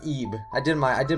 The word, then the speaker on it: Ib: game called eeb now this looks like it says el il or something but i'm pretty sure it's pronounced eeb i did my i